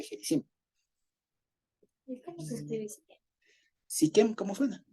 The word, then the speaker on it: Siquem: Siquem, ¿cómo suena? Con S-I-Q-E-M en español. En hebreo es Shechem.